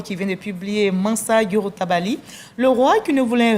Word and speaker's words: Djouroutabali: Vous venez de publier Mansa Yorotabali. C'est un nom malinqué. Dites-nous. Tout à fait. Et vous le prononcez tellement bien.